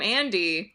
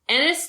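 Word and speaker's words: Ennis: it I called him Andy called him Andy a n d y does it rhyme with enus it doesn't Anis delar boom Jack twist and Anis delmare Anis it's not Andy and Michelle Williams was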